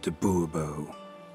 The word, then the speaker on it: Bobo: as Monsieur de Bobo fine Monsieur de Bobo the emphasis falls on the last syllable Boerboel mm-hmm see now